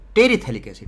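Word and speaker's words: terephthalic acid: इसका जो common name होता है आइसोथैलिक एसिड, आइसोपैथैलिक मत बोलना, पी साइलेंट है, थैलिक, आइसोथैलिक एसिड। और ये टेरीथैलिक एसिड, टेरी नहीं, टेरीथैलिक एसिड, क्या बोलते हैं इसको, टेरीथैलिक एसिड, TERE होता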